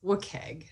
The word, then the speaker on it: WCAG: acronym is a wcag which i say is wicked but i'll say wcag today wookag or wcag is used